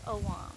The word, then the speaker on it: ogham: particularly known as the ohms and that sounds like ohm but it's spelled differently o g h a m or some people say o wong but it's really more like om it depends on what